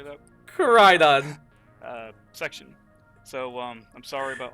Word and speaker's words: Koraidon: Koraidon.